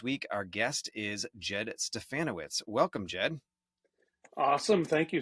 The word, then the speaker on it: Stefanowicz: teaching and this week Our Guest is Jed stefanowitz welcome Jed awesome thank you sck perfect pronunciation too rhymes with ban banana witz yeah